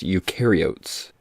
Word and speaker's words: eukaryotes: It's pronounced eukaryotes.